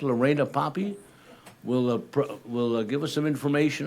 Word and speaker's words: Lorena Poppy: And Lorena, I hope I have that name correct, Lorena Poppy, will give us some information on I Can Swim.